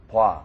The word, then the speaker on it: 봐: If you're having trouble with the pronunciation of 봐, then think of it as B-W-A, 봐. It's kind of an in-between pronunciation between O and A.